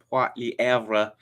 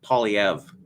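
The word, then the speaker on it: Poilievre: pauliev's site i just made an effort to pronounce his name properly in french poi liavra but i turned found out that he is um pronouncing it polyev okay after having made the effort uh it's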